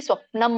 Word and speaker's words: ಸ್ವಪ್ನಂ: ಸ್ವಪ್ನಂ ಮ ಯಾಕೆ ಬಂತು ಅಂದ್ರೆ ಪ ಫ ಬ ಭ ಮ ಬಂತು ಅಲ್ಲಿ, ಹಾಗಾಗಿ ಸ್ವಪ್ನಂ ಅಂತ ಹೇಳ್ಬೇಕು.